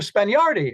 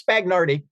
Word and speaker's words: Spagnardi: Spagnardi. I thought I was being polite in pronouncing his name correctly. And he looked at me and said, it's Spagnardi.